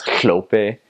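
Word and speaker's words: Hlophe: And another syllable is it's HL, so it's Hlope. So you're like, I'm Hlope, and it sounds like you got a lot of spit, you know, in the side of your mouth.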